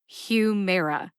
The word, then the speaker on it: Humira: Humera has three syllables Hue like human mare like a female horse and uh like the a in adoption uh Humera Humera now the second syllable